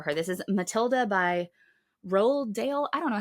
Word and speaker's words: Roald: This is Matilda by Roald Dahl. I don't know how to say his name. I always thought it was Ronald. There's no N in his name.